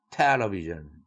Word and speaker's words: television: television 또는 television도 다 오케이지만 television 첫 음절에 액센트를 붙이는 그러한 발음이 더 흔하죠.